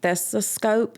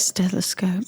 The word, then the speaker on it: stethoscope: and like I remember she would take the thesiscope. Is that how you say it? Stethoscope.